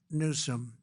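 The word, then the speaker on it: Newsom: If Gavin Nuome let the water come down, see the way I pronounced his name properly for a change.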